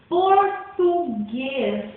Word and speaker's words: português: Um exemplo, português é um ótimo exemplo. Português. O guês é uma sílaba tônica.